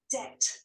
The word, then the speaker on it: debt: பாருங்க, டெட் எப்படி பண்ணிருக்காங்க. டெட் சோப்புக்கு வர டெட் தானே. பாருங்க, debt, debt, debt, debt, பி சொல்லவே இல்லை பாருங்க.